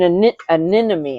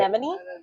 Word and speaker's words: anemone: Um, I just liked it because the handle had an ani anemy. I can never say it right. Anemone and um handle, but the the it was really plain.